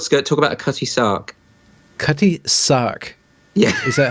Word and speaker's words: Sark: I think when you talk about short skirt, talk about a cutty sark.